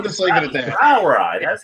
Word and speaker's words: Brauerei: Brauerei.